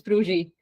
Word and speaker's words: Fruji: Basically, the Z and S next to each other in Hungarian is like a je in French, is what I can the most easily explain. So it's Fruji. Fruji.